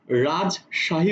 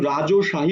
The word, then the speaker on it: রাজশাহী: যে শব্দগুলো লিখেছি রাজশাহী আমি কিন্তু রাজশাহী উচ্চারণ করছি আমি কিন্তু রাজ ওশাহী উচ্চারণ করছি না যেহেতু রাজ বলছি রাজ